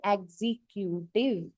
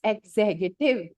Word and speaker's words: executive: This will come and students will say executive. It's executive. The pronunciation is different. Be careful.